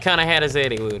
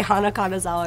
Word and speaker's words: Kana Hanazawa: Oh, you said it right. Kana Hanazawa, dude. That makes me really happy. Sometimes you say Hana Kanazawa and I just let Kana it go.